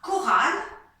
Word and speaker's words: chorale: mais dans certains mots, les lettres CH se prononcent que, comme dans la chorale.